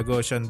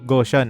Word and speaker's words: Gaussian: filter na gosan blur ang pangalan ng mathematician ay gaus pero somehow gosan ang bigkas ko sa Photoshop filter It's a common mistake actually hindi na nga siya mistake dahil maraming tao rin talaga ang nagbibike na gosan pero I want to